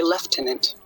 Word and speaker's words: lieutenant: Lieutenant, we say left tenant.